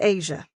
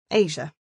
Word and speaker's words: Aja: My name is Asia, pronounced like the largest continent on the planet. Asia.